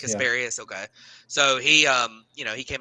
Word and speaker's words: Casparius: Casparius? Is that it? Kasparius. Yeah, Casparius.